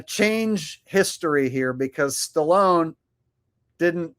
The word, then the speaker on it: Stallone: R Y says Trump mispronounces Stallone's name, calling him uh Salone, and Stallone was totally cool about it and said nothing. Oh, yeah. Yeah, I remember when that happened. when Trump gave an honorary medal to kiss and uh Sylvester Salone and he mispronounced Salone's name or Stallone's name by calling him Salone.